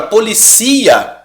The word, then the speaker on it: policia: Agora, policia, ela também é paroxítona, porém terminada em A.